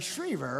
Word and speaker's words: Schriever: I'm looking at that sucker, I'm saying Schriever, right?